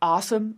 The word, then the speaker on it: OSEMN: I pronounce it as awesome, but it refers to the OSEMN framework.